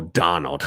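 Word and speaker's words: d'Arnaud: Yep, D'Arnold, yep, or Donald. Yeah. Yeah, I was listening to the pronunciation. I was thinking it was French, but it's yeah, they kind of just go Donald, Donald.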